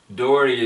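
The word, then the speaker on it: Dougherty: his book Fast Lane to heaven and I'll spell that for you Dory is d o u g h e r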